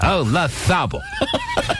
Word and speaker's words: Olazabal: But I knew a guy named Jose Maria Olazabal.